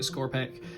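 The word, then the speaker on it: Skorpekh: only Primaris Captain against our Scorpec destroyers, is how we're pronouncing it, Scorpec, and talks you through.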